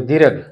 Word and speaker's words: दीर्घ: संधि का नाम हमारा दीर्घ मत बोला करो भाई, दीर्घ दीर्घ। संस्कृत वालों का उच्चारण एकदम स्पष्ट होना चाहिए। दीर्घ, आधा रह है घय के ऊपर दीर्घ संधि, और पूरा नाम सवर्ण दीर्घ संधि, सवर्ण दीर्घ संधि।